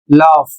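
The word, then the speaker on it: laugh: शब्द लिखा है एल ए यू जी एच इसे पढ़ा जाता है लॉफ और इसकी हिंदी होती है हंसना।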